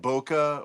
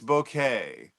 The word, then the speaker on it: bokeh: I always hear this word mispronounced in in English that people call it bokeh or bokeh, but it's bouquet.